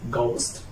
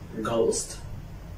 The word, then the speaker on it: ghost: a if it comes after G such as ghost ghost ghost and if it comes before all such as